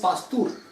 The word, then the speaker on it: Pasteur: Discovery of virus and the term virus was coined bye, ऐसे लिखो, पास्चर का नाम लिखो, पास्चर या पास्तूर. एक्चुअली इसका प्रोनाउंसिएशन इज पास्तूर.